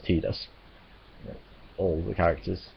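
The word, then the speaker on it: Tidus: in the city of Final Fantasy everyone says teed us all the characters say see this in that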